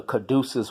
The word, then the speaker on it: caduceus: mercury as they call him in Rome the caduceus wand and you guys look up the caduceus wand it's spelled see a D you see EU s